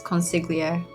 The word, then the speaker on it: consigliere: I was reading it as consigliere. Yeah, I believe that's how it's pronounced.